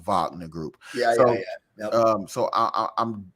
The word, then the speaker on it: Wagner: I think it's called vogman if I'm pronouncing it what is it Wagner w-a-g-n-e-r group it's why it's spelled Wagner but it's pronounced vogner group um so I